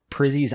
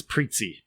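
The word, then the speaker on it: Prizzi: i did my best i think it's preetsy oh preetsies okay preetsy's honor okay well that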